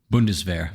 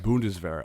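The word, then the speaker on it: Bundeswehr: rearming they created the their army was it pronounced bundesweiser or bones bundesvar bundesvera okay which which um you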